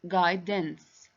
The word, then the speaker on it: guidance: so u is silence we don't pronounce u sound that's a question number